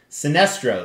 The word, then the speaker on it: Sinestro: on my custom sinestro that's right i said it right sinestro so very excited going